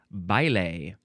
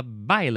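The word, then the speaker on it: baile: Next, we have I believe this will be pronounced ble.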